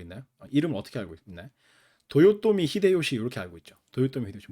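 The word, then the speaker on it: 豊臣秀吉: 여러분들은 누구로 알고 있나요 이름 어떻게 알고 있나요 도요토미 히데요시 렇게 알고 있죠 도요토미 히데요시 몰라요 처음 들었어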